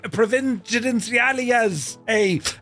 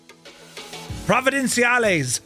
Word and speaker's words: Providenciales: uh lineage 1000 for a flight out of Provenencial A all the way over to Princess Juliana. I got the pronunciation right earlier. I'm not shagging it now. Providencees.